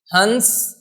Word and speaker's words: हंस: देखो इसका उच्चारण हम क्या करेंगे, इसका उच्चारण करेंगे हंस। हंस जो क्या होता है, एक पक्षी होता है। हंस एक पक्षी होता है और इसको क्या कहेंगे, हंस। इसको कहेंगे हंस। देखो बोलने का तरीका, हंस।